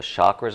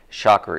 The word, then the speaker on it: chakra: really near where the chakras are which years ago i had no idea what a shocker is or chakra i guess is the correct pronunciation but we place that